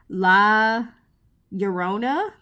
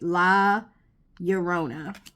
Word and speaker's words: Llorona: So this is number 23, La Llorona. Because I think double L in Spanish makes a Y sound. So I think I'm pronouncing this right. La Llorona.